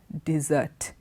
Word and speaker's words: dessert: So, desert, dessert. Spelling very similar, you tend to pronounce both those words as desert. One is desert, the other is dessert.